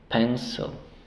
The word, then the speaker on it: pencil: Y la siguiente, la sílaba débil, pencil. Decimos pencil. Sonido de la I corta. No decimos I, no. Pencil, pencil, pencil, pencil.